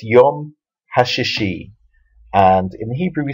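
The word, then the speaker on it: השישי: the second she and the reason the second letter is pronounced differently is because it goes with the yud at the end so it's yum hashishi and in Hebrew we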